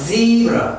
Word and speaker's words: zebra: 자, 그 다음에 이제 이거 z, zebra, z, z, z. 역시 혀가 이 뭐야, 목청이 떨려야 z, zebra, zebra, zebra.